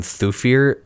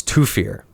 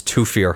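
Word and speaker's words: Thufir: that they call him thuir in the movie um no that sounds wrong it's toir I know it's th but sometimes th just makes the T sound that's a hill I'm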